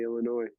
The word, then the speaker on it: Illinois: Say Illinois or Illinois when you say Illinois. Illinois. I'm Illinois, yeah. I feel like not the an S ois guy. is silent.